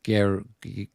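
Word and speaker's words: Guerchy: It's spelled differently, but it looks like it's Grouchy, but it's Guerche.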